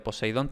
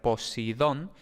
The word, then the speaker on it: Poseidón: Por cierto, Poseidón también se puede pronunciar Posidón. Eh, de hecho debería haber sido así en español, pero la tradición eh es más bien de decir Poseidón. En fin, las dos son correctas, Poseidón y Posidón.